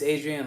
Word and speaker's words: Adrian: all right yeah look adria adrian yeah it's a pet peeve of mine where people mispronounce my name so i hate mispronouncing other people's names it's adrian like trolley adrian i want you to